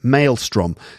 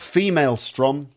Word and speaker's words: maelstrom: that's that's that's that maelstrom yes not female strom as kate said hahaha